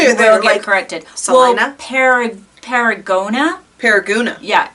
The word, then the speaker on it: Salina: It is spelled Selena. Like the name Selena, but it's pronounced Salina. And I got corrected when I went to you there. will get corrected. Salina?